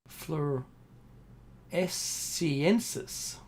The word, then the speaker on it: floresiensis: Extinction of Homo florensis or floresiensis. There we go. fluoresciensis. I've got to remember that pronunciation.